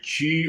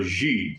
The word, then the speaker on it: chi: martial arts, stretching, yoga, tai chi or ji, because I've heard it pronounced both ways.